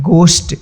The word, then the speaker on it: ghost: ग होता है, यानी यदि GH के पहले कोई वोवेल नहीं होगा तो उसका जो है उच्चारण ग होगा। जैसे यहाँ पे देखिए GHOST, इसको पढ़ते हैं गोस्ट।